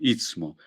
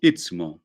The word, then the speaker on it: istmo: Istmo, en realidad pronunciamos mal, ¿no? El istmo. Decimos istmo con T, después la S, pero lo correcto es decir istmo, ¿no?